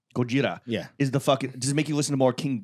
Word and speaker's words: Gojira: IP oh you should you should say it properly Gojira yeah is the [